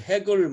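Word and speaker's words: Hegel: 이 헤겔을 헤글 뭐 이렇게 영어로 발음하는데요.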